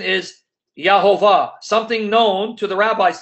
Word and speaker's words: Jehovah: modern rabbinic scholarly sources that the name is pronounced Jehovah so that the rabbi's have always known the